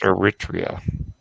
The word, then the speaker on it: Eritrea: So I think that's more a case of me being shit at geography. Than I think it's normally pronounced Eritrea.